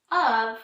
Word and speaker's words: of: Usually if you're stretching out the sounds in your words, of kind of sounds like umbrella, which would be a U, and V, which would be V for vacuum.